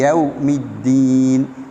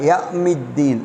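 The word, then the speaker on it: يوم: மெல்லினமான யா வந்து மாலிக்கி யவ்மித்தீன் மேலிக்கு யவ்மித்தீன் சில ஆட்கள் யவ் என்ற வார்த்தையை சொல்லும்போது இங்கே வாவ் இருக்கிறது சில ஆட்கள் யமித்தீன் என்று பாருங்கள் அதுவும் தவறு யவ்வ் என்று அது வாவ் வரவேண்டும் யவ்மித்தீன் ரைட் அடுத்தது இயாக்கபுது இயாக்க நஸ்தீன்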